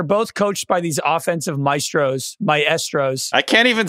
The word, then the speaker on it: maestro: that the the word like in American English yeah Maestro Maestro if you're speaking Italian you would say myestro but you're not you don't speak what did